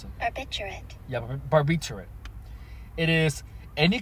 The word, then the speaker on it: barbiturate: Define Barb ter so barbituate how do you pronounce it barbiturate yeah barbiturate it is any class of sedative